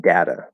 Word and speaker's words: data: Um, that's one reason why we have multiple pronunciations for certain words like data. There's data and data. Both are correct. I use both. It does not matter.